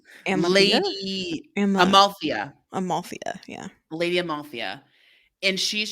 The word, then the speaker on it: Amalthea: Amalthea, yeah.